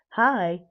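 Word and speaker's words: HAI: everybody else featured are H AI pronounced hi, hello there.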